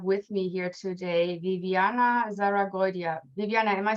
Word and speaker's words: Zarragoitia: I'm very excited to have with me here today Viviana Zarragoitia. Viviana, am I spelling your name right? Am I pronouncing it correctly? That's pretty good. Zarragoitia. Zarragoitia.